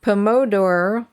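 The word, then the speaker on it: Pomodoro: processing the time blocking is the hopefully I pronounce this right pomor technique p o m o d o r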